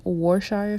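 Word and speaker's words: Worcestershire: then I went in with two tablespoons of war' shire song so that's how you say it next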